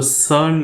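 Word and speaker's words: CERN: experiment हुआ था तो सन लेबोरेट्री के बाहर लगी हुई नटराज की प्रतिमा काफी चर्चा में ए गई थी सैन को हम सी आई आर एन प्रोनाउंस करते हैं यहां से वैज्ञानिकों का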